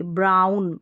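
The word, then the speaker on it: brown: खुद का स्वयं का ब्राउन में ब्रोन नहीं बोलेंगे ब्राउन यानी बूरा जो कलर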